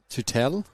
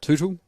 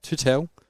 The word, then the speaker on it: Tootell: Yeah, her name's Tutel. Is how you pronounce her last name? I had to ask her to start. Was it Tuttle or Tutel or Tottel? And she's like, "No, Tutel.